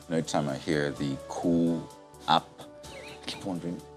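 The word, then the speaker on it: Koo: app, I keep wondering, is this like a coup d'etat or coup? But clearly it's spelled differently, pronounced the same. How does it? It sounds like the sound of a bird. Oh, right. It's like the sound of a particular bird.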